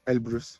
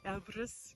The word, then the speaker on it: Elbrus: sorry um behind me is M ibris abis Elbrus Elbrus yes I want to pronounce it correctly and on the other side